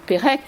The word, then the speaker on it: Perec: On prononce Pérec, mais on ne met pas d'accent sur Pérec.